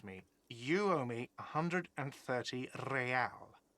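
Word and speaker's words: réal: You owe me 130 real. He pronounces the R with a mock aristocratic accent.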